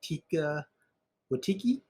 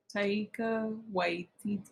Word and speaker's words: Taika Waititi: The film is directed by Tika Waititi. Taika Waititi. We butchered the name.